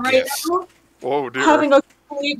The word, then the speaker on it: GIF: Developers of GIF called it GIF, but other people call it GIF.